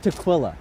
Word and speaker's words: tequila: Well, I mean, like it's pronounced tquila. Teaquila.